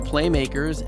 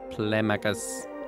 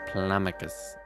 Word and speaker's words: Playmakers: We talk about her unique and artistic approach to game making in this episode of Playmakers. Plamacus. It's not actually pronounced Plamacus, FYI.